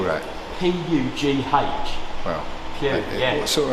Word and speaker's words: Pugh: And Pugh, how do you spell that? P-U-G-H.